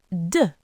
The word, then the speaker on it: deux: deux The sound is at the front of the mouth.